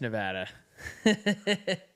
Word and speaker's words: Nevada: are the odds for Nevada right now Market is showing 92% for Trump to win Nevada Nevada got it you're pronouncing it wrong now it's Nevada chat is gonna punch